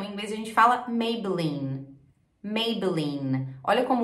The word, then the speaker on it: Maybelline: gente tem uma consoante a letra é esse é mudo Então em vez a gente fala Maybelline Olha como o último só da letra N